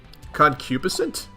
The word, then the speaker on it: concupiscent: cupid oh it's a soft G okay caliginous concupiscent how is that pronounced well if I can look that up